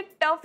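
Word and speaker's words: tough: टप गेला काय ग अहो ते टफ असतं टफ अहो त्याचं स्पेलिंग जरी टी ओ यु जी एच असलं ना तरीसुद्धा टफच म्हणायचं असतं तसंच थ्रू या शब्दाचं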